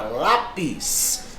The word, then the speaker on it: lápis: Olha lá, ó, palavra lápis. Se eu separo, ó, eu tenho um termo dissílabo. Beleza? É uma paroxítona porque a sílaba tônica é a penúltima, terminada em I seguido de S.